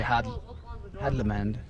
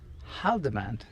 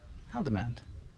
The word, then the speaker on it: Haldimand: So we just say Hadlamand. I think Rick Steves has a Hadlamand. heckler. What is his name? His name is actually Haldimand. Haldimand.